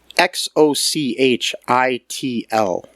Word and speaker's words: Xochitl: Xochitl. Gomez. I think the X is pronounced like a ch sound.